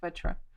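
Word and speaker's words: vētra: like my language, so that English people could pronounce this word correctly. It's like vetra, because if you ask them to pronounce vatra, it's difficult.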